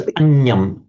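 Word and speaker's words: aññaṃ: It's anyam. Anyam. You're making the reverse error that Shalika made. It was uppanna, but Shalika said uppanya, but this genuinely is anya.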